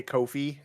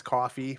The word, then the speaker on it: Ko-fi: Yeah, so I have a everyone roasts me because I refuse to say it right, but I say Kofi. It's coffee, but I say Kofi.